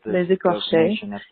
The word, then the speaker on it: Les Écorchés: Calling about the most The episode title is pronounced Les Écorchés, and écorché as a verb means to flay.